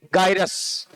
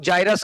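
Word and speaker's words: gyrus: अब देखो ये जो उभार है ना, इनको बोलते हैं गायरस। क्या बोलते हैं? गायरस। कुछ लोग जायरस कहते हैं, वो जैसा आप प्रोनाउंस करो, जायरस, गायरस।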